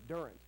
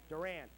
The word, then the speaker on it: Durant: was located at 2303 get the pronunciation right Durand Avenue correct Durant ah got it wrong again okay I was